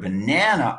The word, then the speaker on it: banana: an a animal animal the word banana also has three syllables but this time the first and third vowels get reduced banana banana in other